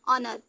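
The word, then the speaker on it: honour: ध्यान दीजिएगा ठीक है यहां पे इन दोनों को मिलकर के ए का साउंड निकाल रहा है और यहां का हा साइलेंट है तो हो गया ओनर ठीक ऑनेस्ट अब देखिए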